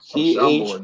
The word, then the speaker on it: Chambord: Chambord. Is that how you pronounce it? Chambord, yeah.